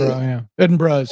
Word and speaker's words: Edinburgh: Edinburgh is how it's pronounced.